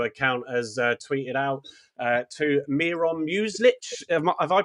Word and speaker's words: Miron Muslic: the official Romano account has tweeted out, to Miron Muslic. Have I pronounced that right, guys?